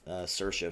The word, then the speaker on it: Saoirse: Rampling and Saoirse Ronan I think Saoirse is how you say it cate blanchett for carroll